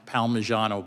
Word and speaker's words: Palmigiano: In footnote 1 in Baxter versus, I think it's pronounced Palmigiano, but don't hold me to that, the Supreme Court said